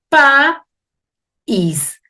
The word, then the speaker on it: país: vocales no permanezcan unidas y digo pa is es una palabra de dos sílabas fíjense el próximo ejemplo